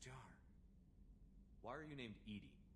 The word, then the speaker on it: EDI: why are you named ed ed is the phonetic pronunciation of Ed I that is an acronym